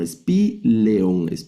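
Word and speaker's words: σπήλαιον: No pronunciamos la ion. La ion, sino espeleon, que significa cueva. Entonces estamos viendo este diptongo alfa yota se debe pronunciar como e, como e.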